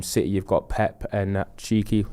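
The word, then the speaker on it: Txiki: you've got pep and cheeki is how you say his name tixie tixie yeah whatever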